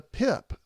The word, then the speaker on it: pip: you could say your sick friend had the pip p i p is what it's spelled and you had the situation covered nicely